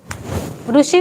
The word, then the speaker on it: ऋषि: हा तो रू है ऋषि वाला र ऋषि बोलो आप ऋषि बोलते बोलो ऋषि तो सही उच्चारण स्थान रू है ना उसका बोलते आपको बोलना नहीं आता उस कुछ नहीं कर सकते सोभी हमने बहुत लोगों को पढ़ाने की कोशिश की का री नहीं बोलना रू बोलना इस स जब